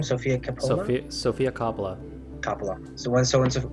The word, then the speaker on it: Coppola: Coppola. Coppola, that's how you say it? Coppola, not Capella.